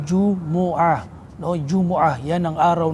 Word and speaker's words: Jumu'ah: Tinawag daw siyang Jumu'ah, ang tamang pagbigkas po ay Jumu'ah.